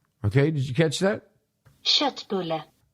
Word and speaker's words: köttbulle: Köttbulle. Okay, did you catch that? Köttbulle. Köttbulle. Köttbulle. Shitbulla. Now, that's spelled K-O with 2 dots, T-T-B-U-L-L-E.